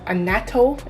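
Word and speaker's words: annatto: be the traditional jamaican pepper shrimp with the anato that's how you pronounce it the red oil that makes it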